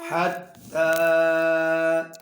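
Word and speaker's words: حتى: कड़ी ज़बर ता ताकरीबता हत्ता हत्ता साथ साथ जो या लिखी हुई है ना ये साइलेंट है हत्ता हत्ता आगे ता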